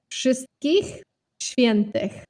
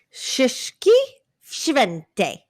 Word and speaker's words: Wszystkich Świętych: It's Wszystkich Świętych. Wszystkich Świętych.